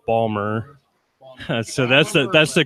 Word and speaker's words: Baltimore: to correct Dana and since I'm a native of the area it's not Baltimore its Ballmer so that's that that's